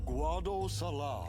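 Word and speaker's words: Guadosalam: I thought it was Guad Salam. We have been expecting you, Lady Yuna. Here we go. Welcome to Guad Salam.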